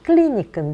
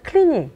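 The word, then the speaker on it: Clinique: 탕수 권에서 옹 거구요 발음은 클린 이끈 데나 우리나라에선 크리니크 클리닉 그렇게 표현을 하죠 내 여기서 우리가 또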